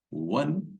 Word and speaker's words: one: one ID man here it is O but we pronounce it as w we don't say on we don't pronounce like this we say w one I man he is